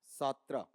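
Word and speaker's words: Sartre: यहां पर यह पार्ट जाता है कौन सा सात्रा और यहां पर है भी बोला जाता जब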